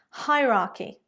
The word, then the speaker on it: hierarchy: So correct pronunciation again, hierarchy.